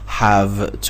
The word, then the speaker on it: have to: Have to هست که میشه have to، ف تلفظ میشه.